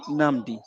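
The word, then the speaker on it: Nabi: So that name is pronounced as Ṣẹ́gun Nàbí.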